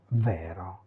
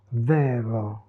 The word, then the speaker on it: vero: tout petit, parce que le R classique, standard de l'italien, est un son assez complexe, et on sait que